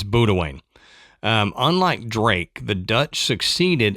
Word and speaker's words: Boudewijn: But according to Google Pronounce, it's Boudewijn.